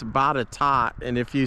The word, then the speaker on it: Botetourt: a video the other day and somebody said Botetourt. It kind of looks like it would be pronounced that way, but it's actually, if you're around here in Virginia, it's Botetourt, and if you say Botetourt, people are going to look at you funny.